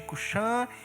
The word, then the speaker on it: Cusã: Vejo as tendas de Cuxã em aflição, os acampamentos da terra de Midian tremem. A sua Bíblia pode ter Cusã aí, mas a pronúncia mais certa é Cuxã mesmo, ok?